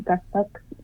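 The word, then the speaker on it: qaspeq: Some gusbuck is the correct pronunciation.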